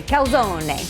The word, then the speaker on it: calzone: recipe today we're gonna make calzone or in italy they would say calzone and it is similar